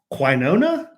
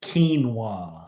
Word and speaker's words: quinoa: you pronounce this word they're like quinona quino that was me i swear i didn't know how to pronounce that word until i was 49 and then someone said it's quinoa and i'm like what